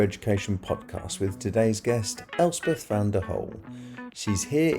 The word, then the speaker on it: Elspeth: So I am Elspeth, as you have just said very well. Most people can't normally pronounce it, but it is Scottish for Elizabeth, if anyone is wondering.